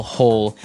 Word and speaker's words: hoe: make maybe a small hole in the ground you would use a spade and now our last tool has a Kind of a Funny spelling it's h o e and it's pronounced ho ho so again this